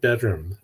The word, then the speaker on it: bdrmm: album called bedroom uh the band is spelled bdrmm did I get that right PD r m m yes take all the vowels out and add an extra M I don't know why